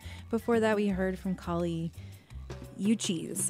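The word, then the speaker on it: Kali Uchis: that we heard from Kali you choose I think is how you pronounce her name she's a colombian-american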